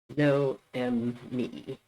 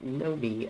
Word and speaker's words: Noemi: my name is noemi i prefer it to be pronounced with three syllables like this no m me but if you want to pronounce it like know me as a sort of nickname that's fine i am bisexual and